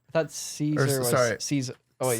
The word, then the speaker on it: Caesar: Like I thought Caesar was sorry. Caesar. Oh wait, you're right. Caesar was more like Kaiser is how they'd Kaiser. say. Oh, wait, Kaiser, is how they'd pronounce it.